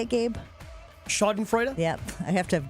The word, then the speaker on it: Schadenfreude: Schadenfreude? Yep. I have to have Gabe say it because I don't know how to pronounce it.